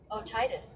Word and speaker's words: otitis: Now they have it something else. They have it pronounced something else. Otitis.